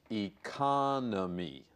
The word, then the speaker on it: economy: that yet Sifu yoga I need to say something about this word because so many students mispronounce it my through a is economy the second syllable has the accent economy if the end is